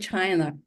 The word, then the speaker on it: Qi: Some of you know Emily's first as Chi Wang. Emily's original first name is Chi. She changed it into Emily just because it was difficult for her patients to figure out how to pronounce QI.